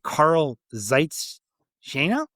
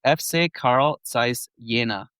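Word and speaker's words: Carl Zeiss Jena: Is that FC Carl Zait Shaina? Am I close on that, Scott? Your German pronunciation here.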